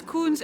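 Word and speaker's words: Kunz: So it's Kunst. And how would you spell that? K-U-N-Z.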